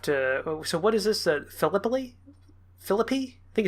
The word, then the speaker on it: Philippi: Philippi? Philippi? I think it's Philippi? Yeah, Philip, and then depending on how you pronounce the double P-I. So Philippi, I think.